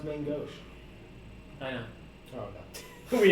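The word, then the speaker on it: main-gauche: It's gonna be my main gooch. All right, so you're using a piercing weapon. Yeah. Oh, apparently it's pronounced main gauche.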